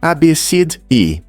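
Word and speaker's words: Abcde: Alguns pais são criativos ao escolher nomes diferentes, como AB CD E, que se pronuncia abid.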